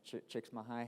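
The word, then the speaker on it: Csikszentmihalyi: studied underneath like uh the main person chicks mahai that's how you say it his name Mike tricks my high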